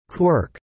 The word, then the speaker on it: quark: Mark, in which case the pronunciation quirk would not be totally unjustified.